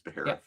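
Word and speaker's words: Baharroth: That's how I pronounce his name is Beerth.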